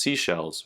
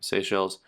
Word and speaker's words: Seychelles: seychelles um not i don't think it's pronounced seashells right seychelles and for those of